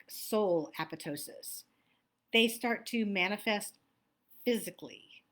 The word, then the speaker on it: apoptosis: o s i s it looks like apoptosis but it's apotosis and what it means